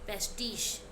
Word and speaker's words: pastiche: Spelling क्या है? PASTICHE, पेस्टिश।